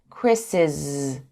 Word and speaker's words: Chris's: pronounce the apostrophe s we would say Chris but when we add the apostrophe s after a name that ends with s we say Chris's with a zed sound Chris's James's not jameses